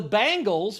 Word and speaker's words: Bengals: egyptian i feel like that is the bangles which is how you say the bengals if you're from ohio you call them the